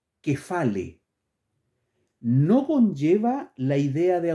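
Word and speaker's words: κεφαλή: cotidiano la palabra cabeza esto se lee fonéticamente desde griego que fale repito fonéticamente en el idioma griego la palabra que se traduce al español como cabeza se pronuncia que fale no conlleva la idea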